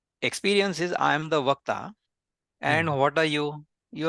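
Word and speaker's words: वक्ता: So I am the speaker means in Hindi or Sanskrit, it is called the Vakta. If you go to Bihar or Bengal, they call it Bhakta because they cannot say wo.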